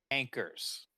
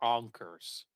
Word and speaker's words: anchors: It is pronounced the way you think it is. Anchors. Did I get that right? You got it right. Or were you going for onkers? Nope, anchors.